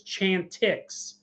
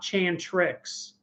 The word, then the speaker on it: Chantix: I still mispronounced it I think it's Chantix not Chan tricks and one guy on